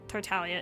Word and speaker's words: Tartaglia: But I think Tortalia is technically how it's supposed to be pronounced. That's why I said that. Um, so Tartaglia.